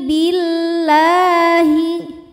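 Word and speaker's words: بالله: Fayuqasimani billahi. Lam pada lafaz Allah atau lam jalalah dibunyikan secara tarqiq. Sebab harokat huruf sebelumnya kasrah. Maka lam dibaca secara tipis. Bunyinya lah. Billahi.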